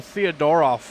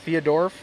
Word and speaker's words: Theodoroff: It's like the ending throws people off. Yeah. What? How do they say it? Like Theodorf. Theodorf. Yeah. Like people No, there's off in there, you know.